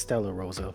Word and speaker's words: Stella Rosa: The rosé, okay. Yeah, so it's not Rosé. It's Stella Rosa, but it's Stella Rosa, okay.